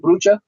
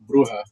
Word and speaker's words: Bruja: Did I say that right, Brucha? I didn't pronounce that right, did I? Bruja. Bruja, that's it. Sorry, Bruja. Yeah. Spanish for witch.